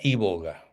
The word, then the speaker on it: iboga: Entonces busca eh se llama se pronuncia i boga con i latina y b larga y boga.